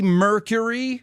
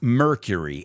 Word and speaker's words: Mercury: about the phenomenal Freddie Mercury well let's start with the pronunciation did I say Freddie mercur Mercury no it's Freddy Mercury so the same thing if